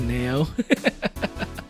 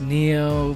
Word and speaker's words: Neo: you know like there there are definitely people who pronounce my name Nao sometimes I'm used to it it gets kind of annoying going like um it's actually pronounced Neo but okay it gets